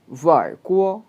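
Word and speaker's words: 外国: Next word है WAI first tone, GUO second tone, तो ये प्रोनाउंस होगा वाई कुओ, वाई कुओ, वाई कुओ, वाई कुओ कहते हैं फॉरेन कंट्री को।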